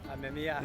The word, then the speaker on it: Amemiya: Can you pronounce his name properly? Amemiya.